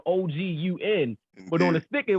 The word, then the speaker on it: Ogun: And they fucking said Ogun, and y'all know his name. For those that don't know, they spelled O-G-U-N. But on the sticker, it was like Ogun, and then it said pronounced Ogun.